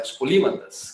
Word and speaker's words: polímatas: Então, os polimaths são os polimatas, né? Os polímatas. Quem me ensinou foi a Era Teles, que está na sala, me ensinou a correta pronúncia desse nome.